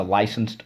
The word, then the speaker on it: license: another way it's a licensed nurse a licensed doctor okay license so let's go lie sense license second syllable we use